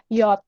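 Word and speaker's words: Jot: J, ini dia bacanya, namanya adalah Yot. Nanti cara bacanya Y, bukan J, tapi Y.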